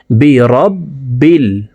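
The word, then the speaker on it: بِرَبِّ: উল উল আউু আইন হরফকে হলুকের মধ্যখান থেকে উচ্চারণ করতে হবে। কারণ আইনের মাখরাজ হলুকের মধ্যখান থেকে হবে। আইন ওয়াও পেশু আউ বিরববিল।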